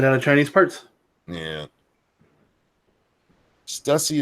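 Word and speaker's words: Stüssy: Stussy is pronounced the same as pussy.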